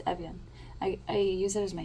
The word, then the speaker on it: Evjen: It's Evjen.